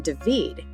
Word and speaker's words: David: Today's video is going to be documenting what it looks like to drive from just outside the capital of Panama in Devid spelled David but pronounced Davided Panama all the way to Panama City.